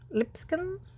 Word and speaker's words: Lipscomb: Lipscomb, I think that's how you say it, L-I-P-S-C-O-M-B.